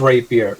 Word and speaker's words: rapier: That is rapier. Rapier. Yeah, Rapier, it's yeah. like Raper. Rapier. So how are you going to pronounce it in the video?